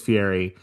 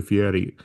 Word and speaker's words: Fieri: almost always Fieri. And it's like he must have been on Kimmel or something and said, it's actually Fieri. And now I feel like everyone says the slightly more uppity pronunciation and not Yeah. the other one.